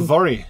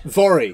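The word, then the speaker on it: Voirrey: is called, I'm turning to you for the pronunciation. Oh, Vori. Vori. Vori.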